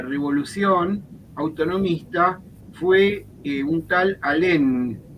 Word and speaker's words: Alem: autonomista fue un tal alem alem con con n el con n acento en la e y en alem y lo colgaron lo